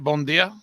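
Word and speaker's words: bom dia: uh at least it's two of us anyway bondia is that am I pronouncing that right bondia yeah bondia it's like a good morning morning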